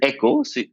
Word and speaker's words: Eko: don't spell it echo spell it eko so the pronunciation is echo so i said i